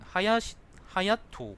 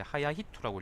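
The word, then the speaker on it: 隼人: 자, 이때 가까이에서 중왕자를 가까이 섬기는 준인이 있었는데 준인이라는 것은요 고대 일본 하야토 혹은 이제 하야히토라고 읽는데요.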